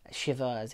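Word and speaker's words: Shiva: I got shiver baby Shivers and like it's a Jewish wake so it's it's pronounced like shiver like you're cold I learned that for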